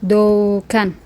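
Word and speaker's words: Doğan: Kalau seandainya ada dalam penulisan misal nama orang doan doan.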